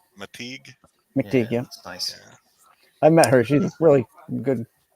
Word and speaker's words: McTeague: McTeague.